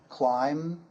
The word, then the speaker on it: climb: For example, climb, comb, thumb, and bomb. The B is silent there.